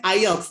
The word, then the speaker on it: IELTS: if stands for in so we pronounce it IELTS not EOS so if you pronounce it ears if you're incorrect actually